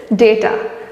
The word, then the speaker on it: data: Actually, the correct pronunciation for this word is data.